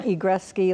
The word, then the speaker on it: Egrecsky: banana and a banana and igressi like wayne gretzky but with a knee see when you're in